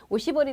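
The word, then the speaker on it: おしぼり: 그러니까 손님한테 오시보리 데스 하지 않고 고키부리 데스 한 거예요. 그러니까 손님이 깜짝 놀라면서 막 웃었다고 얘기를 하더라고요. 바퀴벌레입니다. 이렇게 얘기한 거죠, 여러분. 그렇죠? 그래서 오시보리라는 거 정확하게 발음 알아두시고요. 다른 거랑 헷갈리지 마세요.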